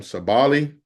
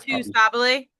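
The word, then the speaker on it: Sabally: Sabali, is that am I saying it right? Sabi.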